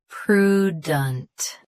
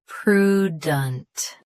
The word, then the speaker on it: prudent: PRUDENT. Stress pru. Keep dunt soft and quick. PRUDENT.